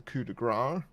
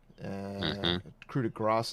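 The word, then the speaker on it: coup de grâce: throwing with good throwing the dagger as the coup de Gras krewe de Grasse sorry mispronunciation you okay so we still calculated combat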